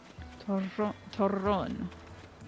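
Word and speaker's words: Turrón: Torron. That's how it's pronounced.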